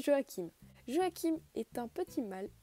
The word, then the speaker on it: Joachim: nombre d'entre vous connaissent on va l'appeler joaquin car certains appellent jo h1 je le prononce joachim joachim est un petit